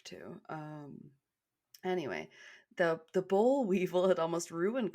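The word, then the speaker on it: boll: l but I looked it up and it's pronounced bowl and that had almost ruined cotton Growers yeah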